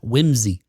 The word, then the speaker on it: WHMSI: Sally index or WHMSI, which they suggest is pronounced whimsy.